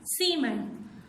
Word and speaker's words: cement: Cement. Only cement begins with an S sound. The other words begin with a K sound.